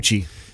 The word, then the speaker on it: Gucci: So it's spelled G-N-O. C-C-H-I, gnocchi. So that G-N makes it sounds like sound. Gucci.